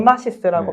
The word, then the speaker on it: Emarsys: 이마시스라고 네. 발음해 주시면 될 것 같아요.